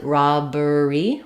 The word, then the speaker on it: robbery: beginning of class, interest, we do keep all syllables here. So I don't really do robbery. I have to keep that in there so I have all three syllables.